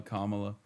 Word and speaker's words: Kamala: That is how you say Kamala. Kamala these things, you know, Tinder banned him, which is uh I've been banned from Tinder.